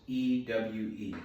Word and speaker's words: ewe: Ewe is spelled E-W-E, ewe, a young small lamb, which he had